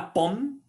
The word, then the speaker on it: pomme: La pomme, les pommes, une pomme, des pommes. On ne prononce pas le E final ni le ES final.